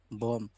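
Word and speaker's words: bomb: উদাহরণ যেমন বম, দেখুন কেন এখানে কিন্তু এম প্লাস বি একসাথে রয়েছে, তার জন্য এখানে আমরা বি এর উচ্চারণ করব না, শুধু বি ও এম, বম অর্থ জানি বোমা।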